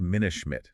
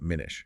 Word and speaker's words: Minna Schmidt: And just a quick note, that's pronounced Minna Schmidt, not Minish.